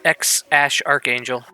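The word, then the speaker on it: X Æ A-Xii: damien kai and x-a-e-a-x-i how do you actually pronounce this name i'm pretty sure it's x ash archangel or just ash archangel oh it's ash why wouldn't you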